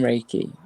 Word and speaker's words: Reiki: Yeah, yeah, Oh Reiki.